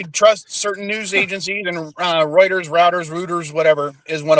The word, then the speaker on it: Reuters: Routers, same word. I'm just putting the emphasis on the different syllable. Yeah. But I trust certain news agencies, and Reuters, Routers, Reuters, whatever is one of them.